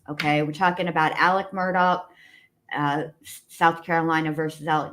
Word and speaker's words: Murdaugh: uh Alex Murdoch Alec let me say it correctly Alec Murdoch Murdoch where his uh appeal